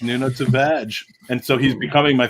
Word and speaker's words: Nuno Tavares: That's apparently how his name is pronounced, Nuno Tavares.